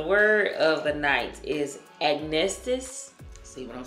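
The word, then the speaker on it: acnestis: All right, so the word of the night is agnestis.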